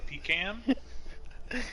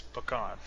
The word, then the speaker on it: pecan: Well, If there are any heathens in chat that say pecan, we have issues. That's the way we were raised in Texas. It's pecan. Pecan.